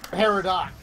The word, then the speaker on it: Peridot: I think the only thing I've heard about that cartoon is that they get Peridot wrong. Peridot. It's Peridot. Well, silent see, that's G.